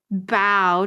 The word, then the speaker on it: bough: And it's spelled B-O-U-G-H. So bow, technically.